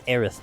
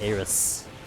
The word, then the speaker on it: Aerith: It's like, you know, it's Aerith, not Eris.